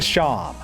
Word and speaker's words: Seam: When we head back to Sham, yes, that's apparently how you pronounce it.